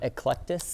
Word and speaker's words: Eclectus: Eclectus.